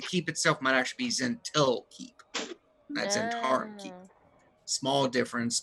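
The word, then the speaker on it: Zhentil Keep: I think I might have been saying its name wrong in that it's Zentarm's the network. The keep itself might actually be Zentil Keep.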